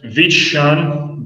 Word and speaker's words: vision: Other different pronunciation that we have here, please do not confuse the word vision, vision. You see, this pronunciation is like sh, like the sound of a B.